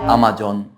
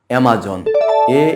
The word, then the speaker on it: Amazon: এম এজে ও এন অনেকেই এটার উচ্চারণ করে আমজন কিন্তু এটার সঠিক উচ্চারণ হচ্ছে Amazজন এম এজেড ও এনঅজন